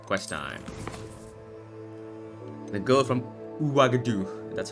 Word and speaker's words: Ouagadougou: The girl from Ouagadougou.